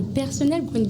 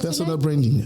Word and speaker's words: personal branding: vous pouvez nous dire en rapport avec le personnel branding déjà ? Est-ce qu'on on prononce ça bien ? C'est comme ça personnel. Personal branding.